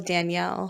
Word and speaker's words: Danielle: well, those are pronounced differently. What? Wait, hold on. Like what? The male one is like Daniel. The female is Danielle.